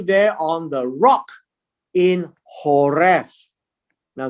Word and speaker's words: Horeb: on the rock in horeb now the the v the b is a v so you can pronounce it as horref uh and the rock